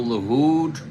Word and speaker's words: LaHood: You say it's Joe LaHood, right? Joe LaHood, Mark. Now, the way you spell it, you could pronounce that a lot of different ways. Joe LaHood. But I'm going to go with Joe LaHood, as Joel Horland said.